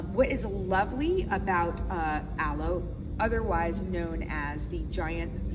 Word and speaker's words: Allo: most popular fibers and that is called aloe and I want you to realize that aloe is spelled a-l-l-o not a-l-o-e a-l-o-e denotes not account